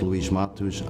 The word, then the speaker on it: Luis Mateus: My name is Luis Matush. I'm an Associate Justice on the Rhode Island Superior Court. There you go. There you go. He's giving us the Portuguese pronunciation.